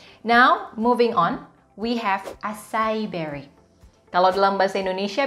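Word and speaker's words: açaí: Nah, tulisannya acai berry dalam bahasa Indonesia, tapi dalam bahasa Inggris, pronunciation-nya adalah acai berry.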